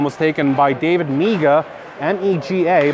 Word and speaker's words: Mega: That one was taken by David Mega, M-E-G-A, but it's pronounced Mega, not Mega.